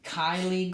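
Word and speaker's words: Kylee: toad it was a big cane toad right Kaylee said that this is pronounced Kylie gray which is k yle e e Kaylie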